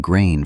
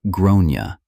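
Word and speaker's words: Gráinne: She asked what I meant, and I said, "Well, in Ireland, they typically pronounce it like Groona."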